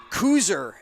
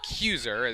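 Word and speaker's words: Kuser: something like that but k-u-s-e-r right that was yeah yeah I apologize to koozer Elementary yeah for pronouncing them cuser as Jolly takes a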